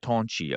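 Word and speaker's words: 同志: Tonshi um I'm sorry but in a in a commun in pronounced Toni.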